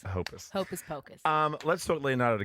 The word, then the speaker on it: Hoppus: Mark Hoppus is Hopus. Hoppus.